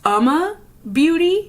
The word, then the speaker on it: Uma Beauty: how to say this it's Uma Beauty yeah based on their website I know I've been calling it um incorrect Cassie incorrect but um